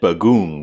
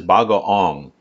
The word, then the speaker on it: bagoong: It doesn't say it on here because it says it in English, but I said bagoong, which is wrong. This is bagoong, which is spelled like bagoong, but it's pronounced like bagoong.